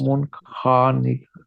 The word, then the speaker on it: والمنخنقات: This is والمنخنقات yes. This kha and this qaf will be pronounced in a thick sound.